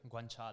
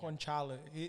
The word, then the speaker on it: guanciale: The Guanciale. Yeah. Guanciale. They put the pig cheeks. Eles colocam a Yeah. bochecha do It- porco no carbonara. It pra makes fazer sense because like chick it's guancia. guanciale.